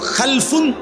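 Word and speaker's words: خَلْفٌ: হয় আরবিতে একটা হল খালফুন আরেকটা হল খালাফুন একই শব্দ শুধু উচ্চারণের মধ্যে একটু ভিন্নতা মাঝখানে একটা লাম আছে। এই লামটার মধ্যে যদি সাকিন হয় তাইলে হল খালফুন। আর যদি লামের মধ্যে জবর হয় তাহলে হল খালাফুন।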